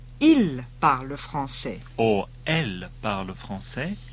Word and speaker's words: ils parlent: If you're talking about more than one person, it still sounds the same. Though it's spelt differently. So, for they speak French, it's ils parlent français.